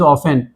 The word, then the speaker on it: often: मैं कहता हूं ना, लिखते कुछ और हैं पढ़ते कुछ और हैं समझते कुछ और हैं, OFTEN इज ऑफन। ठीक है, टी इज साइलेंट हियर।